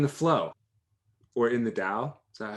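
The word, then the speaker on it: Tao: flow or in the dao is that how you said it too yeah it's spelled t-a-o it's pronounced dao in uh chinese dialect one chinese dialect mandarin and it's the flow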